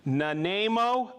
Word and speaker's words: Nanaimo: I always mispronounce that. Nanaimo, British Columbia.